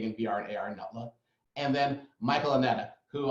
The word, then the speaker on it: Neilda: We have Neilda, pronounced like Zelda, Pacquing, from MindGlow, also done incredible things, and actually really explore some topics.